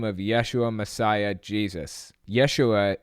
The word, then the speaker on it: Yeshua: Yeshua is actually the original Hebrew pronunciation of Jesus. J's didn't even exist until like the 1600s or something like that. So I find it really weird that we use Jesus at all.